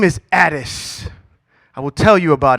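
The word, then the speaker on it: Attis: and look this name up his name is addis i will tell you about him as you look it up you spell it a t t i s he is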